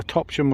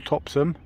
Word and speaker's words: Topsham: the distance over there depend on on your pronunciation it's over topsham or topson and i've had locals say it either way like i said